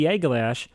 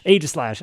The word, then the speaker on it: Aegislash: So when they traded me to baby Aeglash, to me, I'm just gonna mispronounce it every single time. Aegislash.